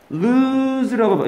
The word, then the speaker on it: lose: 좋은 인생 살기 행복한 삶을 살기 행복하게 살기 그러기 위해서 하는 거죠 많은 돈을 모으려면 좋은 인생이지 우리만 갑니다 lose라고 예, 이건 발음이 써줘야 됩니다 얘는 lose 이 옆으로 이렇게 찍은 건 뭐냐?